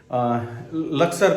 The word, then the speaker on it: लक्सर: सुबह 7 बजे मुझे लक्सर करके कोई जगह है, लुक्सर बोलते हैं, लक्सर बोलते हैं, डिफरेंट प्रोनाउंस करते हैं उसको लोग।